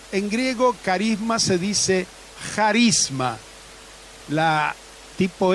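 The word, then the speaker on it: χάρισμα: En griego carisma se dice charisma, la tipo X, pero se pronuncia como J.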